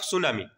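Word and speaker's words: tsunami: তারপরে right on the causes and effects of সুনামি ওকে টিটা আমার সাইলেন্ট সুনামি পড়িবা সুনামির কারণ লিখিবো দেন নেক্সট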